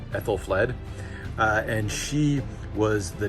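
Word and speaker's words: Æthelflæd: age this one's interesting this is ethel fled that is how you pronounce her name ethel fled uh and she was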